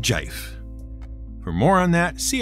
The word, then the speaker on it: GIF: knows their preferred pronunciation gif for jiff we don't care we're taking mike rugnetta's suggestion of equally appropriate pronunciation and going with jife for more on that